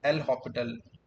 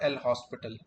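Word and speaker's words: L'Hôpital: So it is pronounced like L'Hopital, not L hospital.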